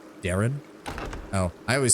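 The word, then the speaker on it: Daeran: Dayron's name is sort of like saying Aaron with a D. Darren?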